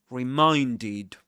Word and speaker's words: reminded: So the when you conjugate the verb in the simple past, you pronounce the ed ending as it reminded.